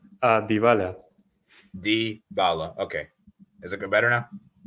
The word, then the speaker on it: Dybala: So how should I pronounce? Dybala. Dybala.